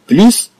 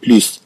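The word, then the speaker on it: plus: أربعة أحرف كما نرى بليس. إذن في مواضع أخرى أنها تكتب نفس الكلمة ولكن بمعنى آخر. طبعا وعندما تأتي بمعنى آخر أنها لا تنطق بليس، أنها تنطق بلي مثلا.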